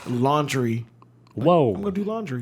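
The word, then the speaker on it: Laundrie: is brian it's pronounced it's spelled l-a-u-n-d-r-i-e but it's pronounced a lannister is he a lannister do we got any games of throne fans in here it's pronounced laundry whoa i'm gonna do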